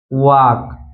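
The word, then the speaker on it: walk: जब यल आता है वो कब साइलेंट रहता है। जैसे टॉक, वॉक, चॉक, तो इन तीनों वर्ड में आप देख सकते हैं यहाँ पर के से पहले यल आया है इसलिए यल साइलेंट है।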